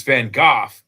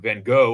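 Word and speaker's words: Van Gogh: It's it's Van Gooff that people get wrong. It's it's spelled G O G H but it's pronounced like cough except with a G.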